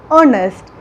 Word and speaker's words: honest: indefinite article and here the word begins with h that is a consonant letter but when we pronounce honest we pronounce the vowel sound that is o so